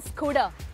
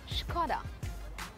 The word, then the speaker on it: Škoda: And it is not a Skoda. It's not a Skoda. It is a Škoda. SKODA is Škoda.